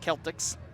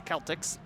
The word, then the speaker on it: Celtics: folklore Dublin drone yes it's spelled like the basketball team in Boston Massachusetts but it's pronounced Celtx actually the first time